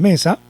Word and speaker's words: mesa: Entonces, aquí está la palabra mesa.